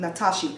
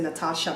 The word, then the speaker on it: Natashi: so much for asking natashi I'm sorry I think you said your name wrong in the beginning I said Natasha but it's natashi flowers Christina Le Purdue